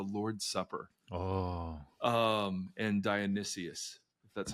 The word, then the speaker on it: Dionysus: talk about the Lord's Supper oh um and Dionysus that's how you say it so uh we